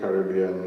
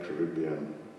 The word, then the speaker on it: Caribbean: of Multidisciplinary Studies, and you may notice I pronounce the word Caribbean rather than Caribbean. It's because my father studied in English in England, and this is the original pronunciation, Caribbean rather than Caribbean. You know, I sometimes do that to let people know that I'm not mispronouncing the word. It's the original English pronunciation, and if you go to England, they still say Caribbean, not Caribbean. So Caribbean both are optionally accepted, I might put it that way.